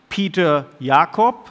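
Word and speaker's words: Peter Jakob: would like to introduce Peter Yakov I would say it pronounced it deliberately in German because he's a professor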